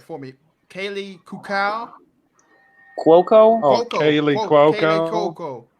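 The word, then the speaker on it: Kaley: Okay, I might pronounce the name wrong, but I know you pronounced it right for me. Kaylee Kukau?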